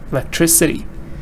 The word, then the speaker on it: electricity: know the last one electric electric stresses here electric devices but when you change it electricity because it's changing I'm adding that sound I'm adding that ending suffix so I say I like electricity although in the past stress was here but now stress is not there greeted sh Goodwill